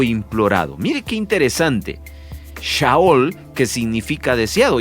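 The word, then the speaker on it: שאול: el nombre Saúl viene de la palabra hebrea pronunciada yahool que significa deseado o implorado mire Qué interesante shaol que significa deseado y es que de verdad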